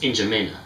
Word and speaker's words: N'Djamena: It's pronounced N'Djamena.